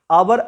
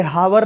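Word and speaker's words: hour: आवर इसे बोलते हैं, हावर नहीं बोलते हैं।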